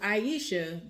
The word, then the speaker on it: Aisha: So Aisha, that's how you pronounce her name, y'all.